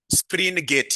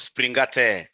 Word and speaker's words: Springate: Spring gate. Yes. Not spring. Springgate model. Springgate model.